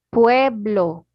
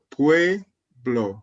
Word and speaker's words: pueblo: Recuerda que en español pronunciamos todo.